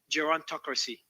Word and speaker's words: gerontocracy: It's called gerontocracy. Gerontocracy? Did I pronounce it correctly?